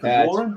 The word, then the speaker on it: Pegorin: Is it Pegorin? Is that how you say it? Pegorin? It's Pegorin. It's Italian.